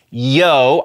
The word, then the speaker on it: Yeoh: i was saying michelle oh or at least it sounded like i was saying michelle oh it is not oh it's yo i'm a dummy and